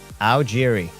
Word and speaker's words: Algeri: Listen, production is now saying Algeri. If I'm understanding that correctly. Algeri is how you pronounce that.